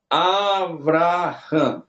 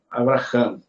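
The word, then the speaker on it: אברהם: pronúncia tu não vai tu não vai ler assim Abraham não você vai ler normal Abraham Ou seja você não você não para muito tempo aqui você inicia aqui mas é rápido e aí você vai criar a a dar mais peso a pronúncia aqui por causa do MEN final certo esse nome aqui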